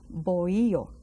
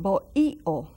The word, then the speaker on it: bohío: And these huts, we call them bohío. Bohío Taíno. See the word bohío? You also find it bohío, bohío Taíno. Without the silent H is silent. The H is silent.